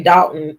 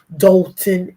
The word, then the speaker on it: Dolton: well officially from Dolton it depends on how you say it most of us say Dalton but you know the people in news say doton Illinois um um he was when